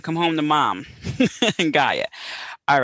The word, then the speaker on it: Gaia: that the greek god is gaia i think people say gaya too uh has for you